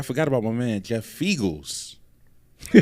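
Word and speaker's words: Feagles: Fiegels, because it rhymes with Eagles.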